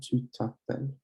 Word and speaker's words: tu t'appelles: Same thing with the U and the T, you pronounce it as one thing and you link it together. So it's comment tu t'appelles, comment tu t'appelles, tu